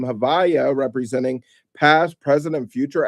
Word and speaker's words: Havaya: Which is the ineffable divine name or tetetrogrammatin composed of the four letters Yhv VH yud vave and pronounced in conversation as Havaya.